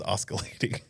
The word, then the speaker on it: oscillating: also thinks that it's oscalating. It has a C. The C. You're saying the C is silent. It is silent.